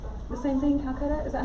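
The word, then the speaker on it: Calacatta: But this is called the same thing, Calcutta? Is that how you pronounce it?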